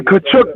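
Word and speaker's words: Tkachuk: Uh the Chai Chai Chuck, what how do you pronounce that? The Kachuk brothers.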